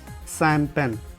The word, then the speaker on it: champagne: मतलब जैसा लिखा है वैसा कुछ नहीं बोला जाता है। इसको हम बोलते हैं शैम्पेन, यानी कि पार्टी सार्टी में आप जब जाते होंगे तो शैम्पेन का यूज़ करते होंगे।